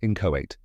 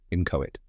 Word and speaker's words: inchoate: It's in-cho-ate. It's pronounced in-cho-ate. Let's break it down. In, like the word in. Ko rhymes with go.